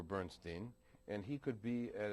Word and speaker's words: Bernstein: the son of Leonard Bernstein aha I see okay good for you and he made it very clear to me that Leonard that's the pronunciation Leonard insisted on Bernstein over bernin and he could be